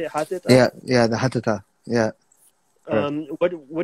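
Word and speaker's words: Hatata: Hatita?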